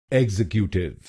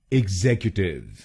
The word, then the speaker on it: executive: इसकी सही प्रोनाउंसिएशन है एग्जीक्यूटिव। एग्जीक्यूटिव। इस शब्द में 4 शब्दांश हैं। पहला शब्दांश है EX, दूसरा शब्दांश है XEC, तीसरा शब्दांश है U और आखिरी शब्दांश है TIVE।